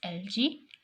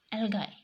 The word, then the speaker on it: algae: bacteria and I and you may pronounce this word as LG LG L guy and organisms capable of